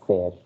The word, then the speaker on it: ser: it i told you e is pronounced as the letter a so it will be ser okay not sir so so this is